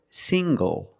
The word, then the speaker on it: single: good also this word single single the n g makes the nasal sound plus the hard G single single I'm not